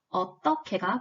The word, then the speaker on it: 어떻게: 자, 우선 어떻게의 표준 발음은 두 번째 음절 받침의 히읗과 세 번째 음절 첫소리인 기역이 축약되어서 어떻게가 표준 발음입니다.